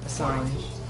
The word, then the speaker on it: Assange: Assange. You gotta be fancy and French about it.